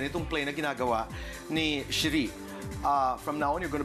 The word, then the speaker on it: Cherie: But I hope from here on they'll realize it's actually Cherie. Diba? Cherie.